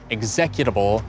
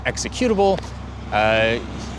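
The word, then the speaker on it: executable: If somebody were talking about a computer program, and they kept pronouncing it egs-yekute-able instead of eksi-kue-tebel, ↓ you might be a little peeved.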